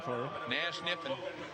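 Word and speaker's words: Kniffen: Nash Niffen. I assume the K is silent.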